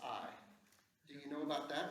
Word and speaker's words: Ai: Everyone remembers Jericho, the city, but what about the city of Ai? A-I. Yeah. Pronounced I.